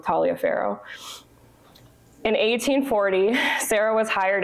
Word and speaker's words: Taliaferro: I know people pronounce this different ways, but I'm going to go with Taliaferro.